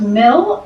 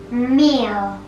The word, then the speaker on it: meal: And this is not mill, it's mail. Meal.